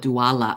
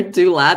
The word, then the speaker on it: doula: truly is a author Doula because before I call it duala I'm like why do I add an a I'm not sure but I think it's author dla that's the correct way was saying yeah she